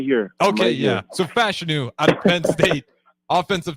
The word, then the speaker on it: Fashanu: But Fashanu is how you say his last name.